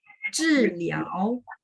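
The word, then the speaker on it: 治疗: Zhiliao. Zhiliao. 知nya 4, liao-nya 2 ya.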